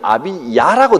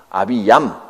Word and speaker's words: 아비야: 아비얌이라고 되어 있는데 여기는 아비야라고 되어 있죠. 역대기에 보면 아비야라고 표현해놨는데 같은 사람입니다. 발음이 조금 다르게 발음을 적어서 그렇습니다. 아비야, 아비얌 어떻게 적어도 상관이 없습니다.